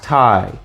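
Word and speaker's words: Tighe: my name's well my name actually is tai but it's spelt different the correct spelling of my name is t-i-g-h-e it's irish it's my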